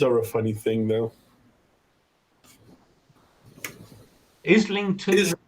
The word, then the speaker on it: Islington: Islington isn't pronounced like island.